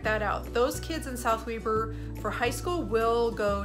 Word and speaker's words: South Weber: So yep, it's not South Weber, we say it's South Weber.